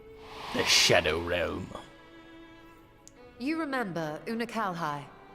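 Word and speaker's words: Unukalhai: shadow realm you remember unakal hai the unusual that's how you say his name troubles i kept saying uncle he explained the fate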